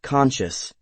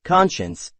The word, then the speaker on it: conscience: before you do anything it sounds like conscious but it is actually not conscious it is pronounced a little bit different conscience but not conscious ensue